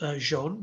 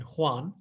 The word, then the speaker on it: Joan: Joan Miró, pronounced Joan because it's Catalan rather than Juan, 1893 to 1983.